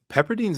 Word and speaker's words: Pepperdine: Trey Murphy type player pepperdine's in Malibu that must be nice yes it is in Mal and here's where I'll correct your uh pronunciation Pepperdine pepper dine pepper dine yeah yeah you could tell